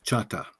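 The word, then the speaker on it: Chahta: that's a English pronunciation of our real name, which is Chata. Chata.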